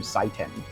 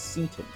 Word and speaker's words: Seaton: Like, I called him Seiton. And you're like, no, that's not how you pronounce it. It's Seaton. And that makes me think, like, Dr. Seaton is actually, like, Satan, like Satan.